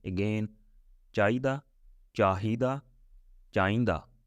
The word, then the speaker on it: ਚਾਹੀਦਾ: But it has three pronunciation, little bit different, slightly different, not big difference. Yeah, it depends where people live. Somebody can say chahida, another person can say chahida, another person can chahinda.